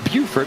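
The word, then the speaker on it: Beaufort: into some Southern vernacular if it's South Carolina it's bufort but there's also a bordt North Carolina but they're not pronounced the same and fun facts Josh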